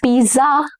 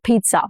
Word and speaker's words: pizza: We ordered a large pepperoni pizza. Pizza. Double Z in Italian is pronounced as Z sound. Okay, it has a little T sound, not Z.